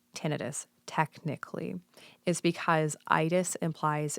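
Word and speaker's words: tinnitus: do these days to help with things like tenus um and other is that officially how you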